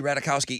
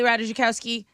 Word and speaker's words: Ratajkowski: Like Emily Ratajkowski is off limits.